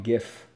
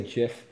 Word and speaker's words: GIF: know he's great JJJ Sandra gif its gift that's how you say not just like a peanut butter it's gif the out of here dude if you say jiff I don't care if the owner of the